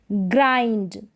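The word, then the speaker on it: grind: उच्चारण आई नील नदी जी आर को ग्र जी आर एक पेयर है जोड़ा है इसको ग्र यानी साथ में पढ़ा जाएगा ग्र ग्राइंड इसको ग्रंड नहीं पढ़ेंगे क्या पढ़ेंगे ग्राइंड पढ़ेंगे ग्राइंड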